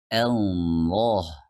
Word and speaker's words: Allah: Jadi kita baca Allah. Ingat, bukan memulainya dengan huruf O seperti Allah.